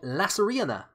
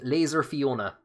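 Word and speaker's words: Lasairfhíona: I've heard people saying Laser Fiona, because people look at it and they just try and pronounce it as best they can. But it's actually it's an unusual Irish name.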